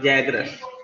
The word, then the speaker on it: Zagros: It is pronounced Z-A-G or Zagros. Okay. Just see this Zagros mountain valley.